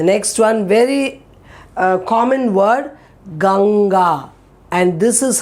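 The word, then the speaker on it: गंगा: will be very easy you say gang and then release for god that gang where you stopped is this sound so gang ga okay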